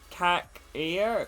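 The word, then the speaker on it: Çakır: can get so um kakir from uh cac here is they pronounced his name the turkish goalkeeper from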